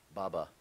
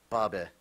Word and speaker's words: baba: Baba. Are there any alternate pronunciations? Yes. Baba. There we go. Had a strange, yes. Baba. Sounds only slightly different. It's a schwa instead of a umlaut A.